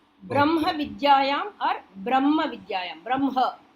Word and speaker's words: ब्रह्म: Brahma. Ha should be pronounced or half ha and ma full.